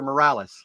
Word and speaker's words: Morales: wonderful couple with us today, Nico and Serenity Morales. Is it Morales or Morales? Am I pronouncing that right?